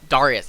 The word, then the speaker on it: Darius: it would neutralize the disadvantage that uh Darius Darius yes I said it I said it right